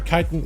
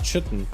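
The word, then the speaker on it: chitin: There's got to be a right way to say it. Shall the kitan is the right way to say that word. It's not chitten. Chitten is not even a word.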